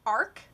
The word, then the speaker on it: RK: so meet this character her name is RK that's how it's spelled it's pronounced Ark she is the turn